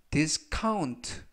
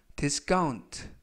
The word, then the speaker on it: discount: 이때 C 발음을 카 또는 약간 강하게 하셔서 까, 그래서 discount 또는 discount 모두 맞습니다.